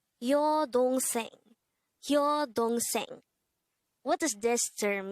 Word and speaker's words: 여동생: 여동생, 여동생. This is pronounced as a three-syllable word. The first syllable is yo, second syllable is dong, and third syllable is seng.